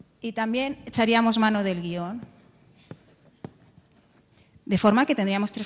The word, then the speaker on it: guion: Sí todos nosotros eh en España guion se se pronuncia como una palabra bisílaba vale de manera que nosotros en España pronunciamos así gui on bueno así y por